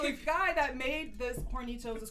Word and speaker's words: Hornitos: You say it like, like Hispanically. Hornitos.